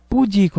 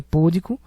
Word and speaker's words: púdico: errado aqui letra b pudico não existe o correto é púdico o acento tôn a sílaba tônica é o Di Ela é uma paroxítona